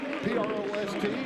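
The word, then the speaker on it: Prost: On one guard, it's Carson Pro, P-R-O-S-T, pronounced Pro.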